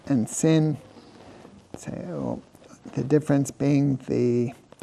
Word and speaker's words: sin: The sound of a sin is s like an s.